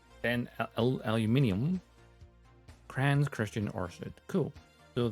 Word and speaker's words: aluminium: Of course, it's aluminium.